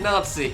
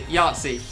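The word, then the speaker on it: Yahtzee: You said Nazi. Yatsi. Not Nazi.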